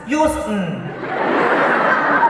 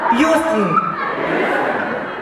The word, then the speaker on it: Houston: You don't pronounce the T. It's Houston. Houston.